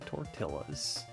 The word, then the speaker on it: tortilla: Somebody in chat was like getting mad at me for pronouncing the L in tortilla.